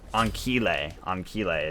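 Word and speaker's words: Ancile: Anchile is actually what it is. I remember now. I saw Ajax talking about the pronunciation of it. Anchile. I'll never forget. He just kept saying Anchile.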